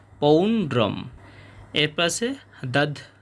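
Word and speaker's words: পৌণ্ড্রং: উচ্চারণের মতই হবে এবং শেষে অনুস্বার থাকার কারণে অর্ধেক ম হবে পৌন্ড্রম এরপর আছে দাদ মৌ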